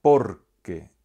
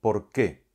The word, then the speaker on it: porque: sin tilde, y además la sílaba tónica es la primera de las dos de las que se compone la palabra, con lo cual esto ya debería darnos una pista para no errar a la hora de escribir. Se pronuncia porque y no por qué.